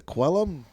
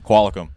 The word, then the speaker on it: Qualicum: Maybe I'm saying it's a Quellum. Oh, shoot. Qualicum. Qualicum.